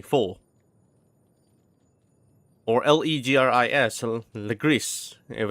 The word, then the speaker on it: faux: Or when there's word like FAUX, it's actually in English, like in regular English, you call it fox, but in French, it's actually four.